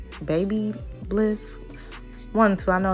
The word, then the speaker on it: BaByliss: the curling iron that i'm using is called babyliss baby bliss one two i know it's spelled b-a-b-l-i-s-s those are the curlers of the